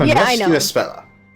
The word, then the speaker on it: Espella: Espella. It's an A, but it's supposed to be pronounced as an E.